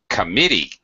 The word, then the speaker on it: committee: for example ah ok committee committee committee has first syllable stress I think we actually